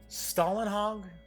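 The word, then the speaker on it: Simon Stålenhag: I believe it's pronounced Stalinhog.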